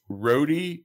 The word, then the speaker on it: Rohde: page first which is at rhodey garage sale and roadie is spelled r o h d e garage sale now